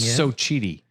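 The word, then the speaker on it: Xochitl: It's pronounced Sochi.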